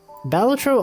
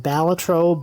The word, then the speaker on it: Balatro: Balatro also released on Mac, so I don't have to turn on my Windows PC to play it, which is cool.